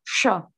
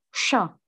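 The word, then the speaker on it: ш: Ini bacanya sha. Sha. Ulang lagi ya. Bacanya tuh sha.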